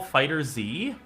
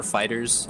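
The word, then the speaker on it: FighterZ: it not dragon ball fighter z you could say fighter z or fighters i i just say fighters because i'm lazy fair enough can't can't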